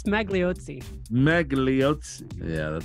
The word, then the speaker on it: Magliozzi: How do you pronounce that? I think it's Magliozzi.